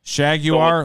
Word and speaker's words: Shaguar: he say his name it's shaguar shaguar like jaguar but shag that's sweet shaguar from